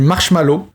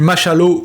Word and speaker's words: marshmallow: tiré la conclusion suivante le test du marshmallow et non du marchallow ou de la marchallow ou de la marshallow comme certains le prononce est un prédicteur de